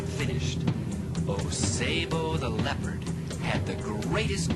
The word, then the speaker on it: Osebo: You will meet the fierce leopard, Osebo. Say his name with me, Osebo.